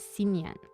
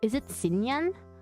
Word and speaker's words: Shinyan: You can pronounce Shinyan's name as Sinyan. Oh, is it Sinyan?